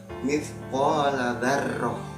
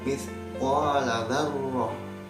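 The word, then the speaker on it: مثقال ذرة: Di sini ada lafaz mithqala dzarrah. Ada bacanya seperti itu. Yang bacaan yang salah itu seperti ini, mithqala dzarrah. Nah, itu salah. Nah, jadi harus moncong ya, mithqala dzarrah ya.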